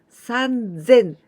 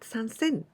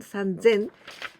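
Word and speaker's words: さんぜん: sen ni sin but sansen this was the irregular one sun zen not sunsen okay so only this one sun zen and yonsen gosen roxanne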